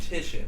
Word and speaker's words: Titian: The name is pronounced Titian if you're playing this at home.